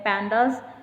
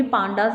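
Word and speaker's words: pandas: पैंडास, और ये भी पांडास नहीं होता है, इट्स पैंडास।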